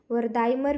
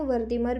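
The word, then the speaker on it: Wertheimer: Answer यहाँ पर हो जाएगा गेस्टाल्ट मनोवैज्ञानिक के संस्थापक जो है ना ये वर्दिमर है। वर्दाइमर भी बोलते हैं, वर्दिमर भी आप जैसे प्रोनाउंसिएशन कर सकते हैं, करेंगे।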